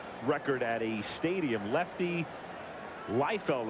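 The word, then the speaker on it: Leifield: Lefty Liefeld, I guess is how he pronounced it, pitched with the Pirates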